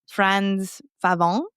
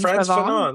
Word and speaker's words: Frantz Fanon: So I don't even know if I'm going to say his name right, but Frantz Fanon. Like, this is my attempt at French. Yeah, Frantz Frantz Fanon.